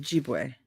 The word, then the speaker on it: Ojibwe: Someone recently told me how I'm supposed to pronounce that. I can't. Ojibwe.